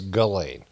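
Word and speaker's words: Ghislaine: is to do with jizzlain Maxwell now they they say it's galain And it's spelled G I I J H I S lane. So the lane is clear. You know the the L A I N E is clear.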